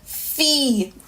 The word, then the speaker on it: fi: I, it's a long E sound, so it's pronounced as E in Creole. Not I, but E. Not an I, like as in T, Fee, which means a girl.